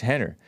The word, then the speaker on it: Rener: And it's about the Gracies, or this Henner Gracie, which is spelled with an R instead of an H, but it's pronounced Henner.